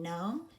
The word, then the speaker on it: gnome: cross app RG okay we're gonna underline a GN and knock and cross out our ghost letter G and digraph G and in Nome and cross out our